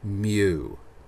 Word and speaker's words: mu: curls at the end this is the symbol pronounced m y o o mu alright this is the greek letter mu and this is used when we have the